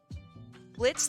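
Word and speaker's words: Blitzø: hell of a Boss Blitz the O is silent from uh hell of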